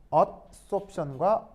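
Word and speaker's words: adsorption: 영어 단어 중에 어쏨션이라는 말하고요. 업소션이라는 말이 있어요. 그래서 어쏨션과 업소션. 알겠죠? 발음도. 자, 알파벳 차이를 알겠어요? 이건 D, B.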